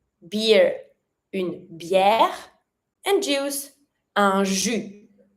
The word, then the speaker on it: un jus: And juice, un jus. And you don't pronounce the S.